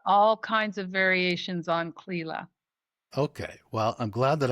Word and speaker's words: Clela: Welcome, Clela. Thanks, Mark, and thank you for pronouncing my name correctly.